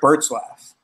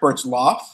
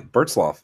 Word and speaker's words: Bertzloff: So I've heard you say that intro a million times, and I'm just now noticing your name isn't Eric Bertzlaff. It's Eric Bertzloff. Yeah, Bertzloff. That's right.